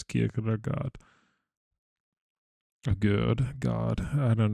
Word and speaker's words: Kierkegaard: And I hope I didn't butcher the name, but I'm pretty sure it's Kierkegaard.